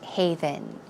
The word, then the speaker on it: haven: you're married it's kind of like a safe haven a safe haven that word don't get it